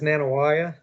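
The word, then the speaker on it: Nanih Waiya: We talked about Muscadine Farms, and the next one, you can pronounce it for me. Yeah, the next one is Nanawaya.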